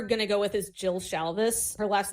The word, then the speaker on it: Shalvis: the author we're gonna go with is jill shalvis her last name is spelled s-h-a-l-v-i-s i've recommended a joel shalvis book